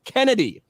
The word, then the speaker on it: Chennedy: is uh Kennedy Carter it's spelled chennedy but it's pronounced Kennedy because of course here